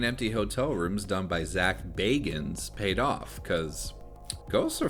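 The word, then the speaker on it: Zak Bagans: Well, it turns out Zach Baggins... How do you say this fucking guy's name again? My name is Zach Bagans.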